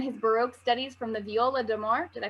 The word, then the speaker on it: viola d'amore: He began his Baroque studies from the viola d'amore. Did I pronounce that correctly?